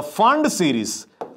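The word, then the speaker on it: Pfund: we finally have the fund series the fund Series where the p is silent you must understand so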